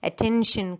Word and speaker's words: attention: TION or the SION, attention, competition, demonstration, explanation. So where does the stress come? It comes on the syllable before TION. Okay, so attention, the stress is given on the second syllable.